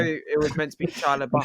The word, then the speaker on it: Shia LaBeouf: Sheila Bluth. Bro, no, it's like it's Shia LaBeouf. It literally like says that.